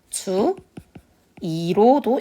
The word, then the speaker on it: 주의: 원칙대로 읽으면 주의로 읽고 그런데 지금 다만 4용하는 발음으로 읽으면 어떻게 되죠? 주 2로도 읽을 수 있습니다.